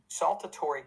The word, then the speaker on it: saltatory: it's called saltatory conju saltatory conduction it literally comes it sounds like the word salt but it literally comes from